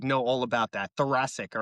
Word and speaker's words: thoracic: Yeah, thoracic. Like Jurassic. Dude, Thoracic listen, outlet I've been syndrome. watching the dinosaur Netflix series with my kids, so I like know all about that. Thoracic, all right?